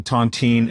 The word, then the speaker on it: tontine: Let's start with the tontine first of all, because I think, on the surface, it sounds like a really delicious French pastry, but clearly it's not that. What is the origin of the tontine and how does it work?